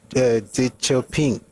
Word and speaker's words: Deng Xiaoping: His name is pronunciation on you, not Shanumi. There's a D somewhere there. There's a chi somewhere there. Anyway, he was saying that what would he have been? God bless you, Deng Xiaoping.